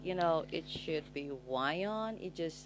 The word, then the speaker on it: WION: Though I just feel like, it should be Wyon. It just sounds, it's Wion. Okay, Wion. They pronounce it, I mean, it's their network and all, but they pronounce it as Weon, okay?